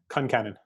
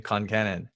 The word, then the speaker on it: Concannon: and n o n nice how do you pronounce that Concannon okay I got it right in my head whew that's a strong name Concannon right it's Irish all four of my grandparents